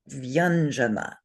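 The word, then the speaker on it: व्यञ्जन: The way it's pronounced is vyanjana, Please, everyone say Vyanjana.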